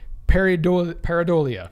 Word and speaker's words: pareidolia: images and random patterns a phenomenon known as pareidolia well he did say it right the first